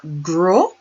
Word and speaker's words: gros: Fat is gros, gros, or gross. Fat is gros, gros, or gross. Gross. Not gras, not gross. Gros, gross. The S isn't pronounced. Gros.